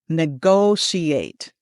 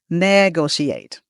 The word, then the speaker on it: negotiate: The emphasis is on the second syllable on the go. All right. So, we're going to say this together. Negotiate. Some people put it on the first syllable and it sounds like this. Negotiate. So, we don't want that second syllable.